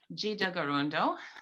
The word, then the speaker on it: Tkaronto: So I learned one of the pronunciations for Toronto is Jida Garundo. That's from Kanien'kehá:ka people, my people.